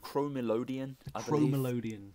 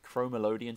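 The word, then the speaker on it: Chromelodeon: How do you pronounce it again? The Chromelodion. Chromelodion.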